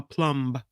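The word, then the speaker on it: plumb: No, a plum with a B with a silent B on the end.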